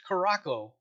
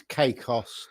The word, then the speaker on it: Caicos: You did it wrong. Boat explode. Nomad, it's Caicos, just for later pronunciation.